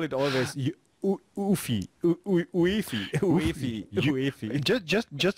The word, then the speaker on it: UEFI: And I call it always UEFI. Just spell it out. If you spell it out, it's correct, I think.